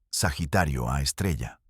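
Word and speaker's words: Sagitario A*: En el centro de la Vía Láctea hay una fuente de radio llamada Sagitario A asterisco, pronunciado Sagitario A estrella.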